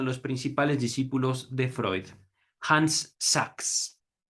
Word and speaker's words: Hans Sachs: principales discípulos de Freud, Hans Sachs. Voy a también leer otra forma de pronunciar este nombre, Hans Sachs. Sachs.